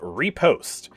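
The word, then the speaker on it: riposte: Skill expression really is the name of the game, because his next ability is called Reposte. Yeah, that's how you pronounce it.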